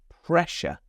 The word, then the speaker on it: pressure: We have two S's there, but in this word, they're making a sh sound. Pressure.